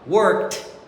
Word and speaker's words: worked: Você sabia que embora a gente escreve ED no passado, nós não pronunciamos D e sim T.